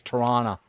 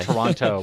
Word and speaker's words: Toronto: Kong but T toron you got to say it right it's Toronto toron Toronto we don't say Toronto we say toron so T Tor T